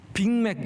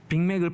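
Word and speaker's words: Big Mac: 빅맥. 여러분, 빅맥 발음이 굉장히 어려운 겁니다. 빅은 G로 끝나고 맥은 C로 끝나거든요. 이게 발음 뒤에가 달라야 돼요.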